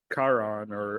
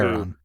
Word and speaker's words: Charon: Well, no, because you said Yeah, Charon or Chiron, however you pronounce it, and I said it's Charon.